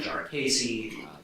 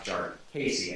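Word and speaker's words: Jarkesy: including most recently uh jar casy jari there are a million ways to pronounce it I'm not entirely sure at this point because I've heard so many so regularly uh but we'll go with uh jar casy I believe it's that pronounced it today and I'm going toet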